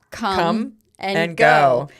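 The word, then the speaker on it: Kum & Go: That's called Come and Go. But it's spelled K-U-M.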